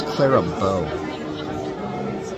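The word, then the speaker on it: Clara Bow: Her name was Clara Bo.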